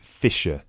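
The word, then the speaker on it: Fischer: me your full name sure it's mr fisher okay sorry how do you spell your surname it's spelled f-i-s-c-h-e-r great thank you i see that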